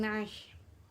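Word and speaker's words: عَشْرٍ: Shin di sini termasuk huruf hamas, yakni sedikit berdesis ketika mengucapkannya.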